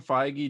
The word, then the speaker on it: Feige: eddie brock no it's tom hardy um kevin feige did an interview recently saying and in that